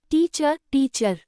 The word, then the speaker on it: teacher: In the word teacher, the second part is unstressed. So the vowel in sounds like a soft not a strong ir or ur.